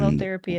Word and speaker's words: halotherapy: So And halotherapy it is.